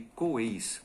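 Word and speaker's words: 鬼: E se transforma aquilo que se chama de Coeis, né? Coeis, ou Gui, né? Se escreve Gui, mas na realidade a pronúncia é Coei.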